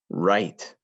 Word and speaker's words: write: When you write something down, it has a W that we don't hear at the beginning.